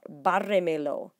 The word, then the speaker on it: bárremelo: Bárremelo. Una, dos, tres, cuatro. So 1, 2, 3, 4, hit it. When you add 2 pronouns, you have to count back cuatro sílabas.